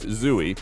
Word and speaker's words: Zooey: named after Zooey glass her name is pronounced Zooey yet it is a very unique spelling versus the typical Zoe and zawi that's because